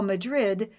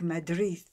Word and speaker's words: Madrid: through the teeth and what we call Madrid they sound more like Madrid of course you will